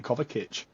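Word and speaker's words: Kovačić: I would call him kovit yeah the accent above the first SE I think or one anyway yeah I think it's you pronounce it like a CH as in church B of B of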